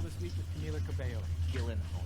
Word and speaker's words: Gyllenhaal: Gyllenhaal, your name is pronounced Gillen.